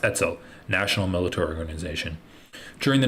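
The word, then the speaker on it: Etzel: as Urugun, or by its Hebrew acronym pronounced pronounced etsel, national military organization.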